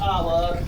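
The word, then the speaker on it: hour: उसी तरह ऑनर में भी एच के बाद वॉवेल का प्रयोग हो रहा है, अतः एच यहाँ साइलेंट है। और इसको हम कैसे पढ़ेंगे, एच को छोड़ के इसका उसका उच्चारण करेंगे, ऑनेस्ट, आवर, ऑनर एंड।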